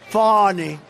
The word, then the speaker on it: Fani: cases like funny funny it's spelled Fanny it spelled Fanny like your ass right Fanny but when she became da she decided to add a little French a little fancy fonny fonny and you know